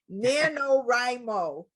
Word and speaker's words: NaNoWriMo: let me make sure i say it right nanowrimo did i say that that is correct yes